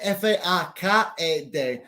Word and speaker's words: faked: So José Alberto, faked se escribe F-A-K-E-D. Así que porque se acaba en K-E-D, no pronunciamos ed, porque no es de ni es te. So faked, F-A-K-E-D, pero pronuncia faked.